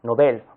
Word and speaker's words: nobel: se pronuncia esta palabra se pronuncia como si fuera aguda nobel ojo ahí está recreando